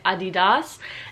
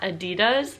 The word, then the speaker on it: adidas: daily in Germany but adidas has actually pronounced differently in Germany it's correct me in the comments if I'm saying it wrong and they say ah DDoS and not adidas so that's the American take on it the next one that